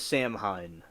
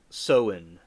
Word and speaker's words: Samhain: ancient Celtic feast of Samhain. I thought it was Samhain, but it's pronounced Samhain.